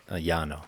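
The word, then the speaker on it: Llano: pronouncing this this River the loo River leano loo loo is it it's l l n o Yano Yano and uh it was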